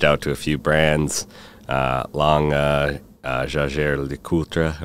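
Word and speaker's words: Jaeger-LeCoultre: So, and during that time, I also reached out to a few brands, Jaeger LeCoultre, or Jaeger LeCoultre, as we say in the U.S.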